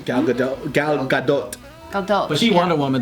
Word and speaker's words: Gal Gadot: Like if they try to kill like Gail Gadot or whatever. Right? That's how you say her name? Gal Gadot.